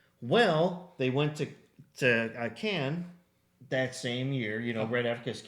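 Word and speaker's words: Cannes: Well, they went to to Can that same year, you know, right after Cans, right after I am pronouncing it correctly, right? It's can, but people will tell you it's con and so they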